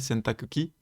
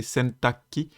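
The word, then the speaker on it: 洗濯機: Je rappelle, sentakuki, parfois prononcé sentaki, la machine à laver.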